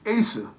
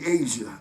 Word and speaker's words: Asia: I knew his girl, Asa. honorable woman. And I meant to say Asia. I called her Asa, Asia, because the way her name is spelled.